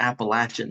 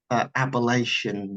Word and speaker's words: Appalachian: So I'll go ahead and say first off, that's how you know someone's local if they pronounce it the Appalachian Mountains. It's not Appalachian Mountains like you see on television, everything.